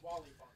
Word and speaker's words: Wally Funk: Pronounced Who's that? Wooly Funk? Wally Funk, you got it right.